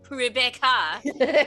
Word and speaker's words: Rebecca: name correctly uh Yes actually it's pronounced Rebecca most Americans can't pronounce it correctly Rebecca you pronounce italies are pronounced Italian Rebecca real quick that reminds